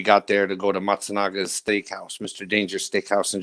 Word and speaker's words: Matsunaga: Masanga. Not Masanga. I'm saying it wrong. I just want to fuck up his name. Mitsuhiro Matsunaga.